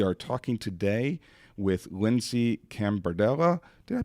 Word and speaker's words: Cambardella: We are in the Chamblee Chamber of Commerce offices, and we are talking today with Lindsey Cambardella. Did I pronounce that right, Lindsey?